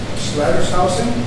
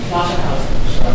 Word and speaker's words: Schlatterhausen: Schlattershausen? Schlatterhausen. Very good. It's easier than it looks. There's an otter and a house in it. At least the American pronunciation.